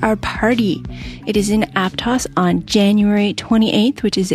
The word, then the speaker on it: Aptos: And it is not Aptos, which is the Spanish pronunciation, but Aptos, which is the American Indian pronunciation.